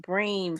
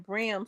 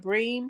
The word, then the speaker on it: bream: me that's wrong let me see oh it's pronounced bream fish all these all my life I've been saying brim fish and it's called and that's what they